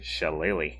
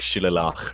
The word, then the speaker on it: shillelagh: with shillelagh Chalet legally chalet lee oh that's that's how you pronounce that Jesus Christ how did you think it was pronounced not die I have no idea Oh like Sheila lock or something like I mean we're not